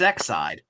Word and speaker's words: Exide: wait how'd you pronounce that how did you pronounce that it's exide oh i don't know it's exciting everybody but